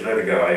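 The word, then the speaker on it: LoDagaa: How would your work have changed if, say, instead of going to the Lodaga, is that the way you pronounce it? Yes, Lodaga, yes. The Lodaga in northern Ghana, you'd gone to Borneo or to Ceylon?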